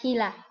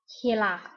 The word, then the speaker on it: Gila: Looks like Gila, it's pronounced Gila. Gila.